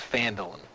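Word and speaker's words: Phandalin: I always say it wrong, and then I always panic. It's Phandelin? I gotta look, someone called me out. Phandelin, yep. It is Phandelin.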